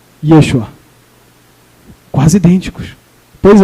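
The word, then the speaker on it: ישוע: O nome de Josué em hebraico é Yehoshua. Yehoshua. E esse outro nome aqui em hebraico é Yeshua. Vou repetir. Yehoshua. Yeshua.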